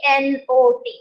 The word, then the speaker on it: knot: sleeping this not k n o t the spelling is different here you add the k but the k is silent so you would say